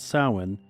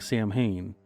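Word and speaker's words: Samhain: of the Dark Half was called sin but spelled like Sam Hayne bonfires brought in their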